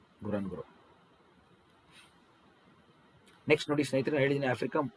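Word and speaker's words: Ngorongoro: ವಾಲ್ಕನಿಕ್ ಇದನ್ನು ಕೇಳ್ಬಿಡ್ತಾರೆ ಎಕ್ಸಾಮಲ್ಲಿ, ಗೊರಾನ್ಗೊರೋ ಅಂತೇಳಿ ಉಚ್ಚಾರಣೆ ಮಾಡ್ಬೇಕು ಇದನ್ನು. ಇದು ಸೈಲೆಂಟ್, ಇದು ಗೊರಾನ್ಗೊರೋ.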